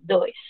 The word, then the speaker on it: does: Así, does. Y la forma en la que se pronuncia es como si esta O y esta E sonaran como una A, das o doesn't.